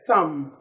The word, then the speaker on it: thumb: Yes, thumb is silent. B is silent in thumb.